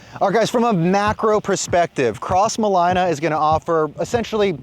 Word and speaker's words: Crossmolina: for starters it is not cross Molina it's cross Molina like South Carolina I think I said